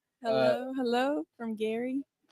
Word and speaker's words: Geary: going to be in Gary and she was like that ain't how you say it it's Gary. Oh yeah, we were like, "Oh, but yeah."